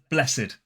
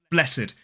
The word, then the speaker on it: blessed: As an adjective, it can be pronounced blessed. Blessed. 2 syllables, but as a verb, it's pronounced blessed. Blessed.